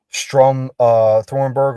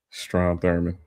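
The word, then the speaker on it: Strom Thurmond: Uh Strum uh Thornberg or however you pronounce his name. Strom Thurman.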